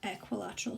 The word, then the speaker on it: equilateral: So sometimes pupils might remember the word equal and might refer to this triangle in that way, but it is pronounced equilateral triangle.